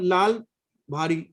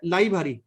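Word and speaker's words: लई भारी: देखो अब मुझे समझ, लाल भारी प्रोनाउंसिएशन इज ओके, लाल भाई, लाई भारी, इट इज लाई भारी, लाई भारी मीन्स वेरी नाइस।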